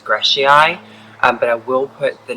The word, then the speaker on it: grijsii: So this one is Camellia, and I think the way that you pronounce it is Grijsii, but I will put the name on the screen.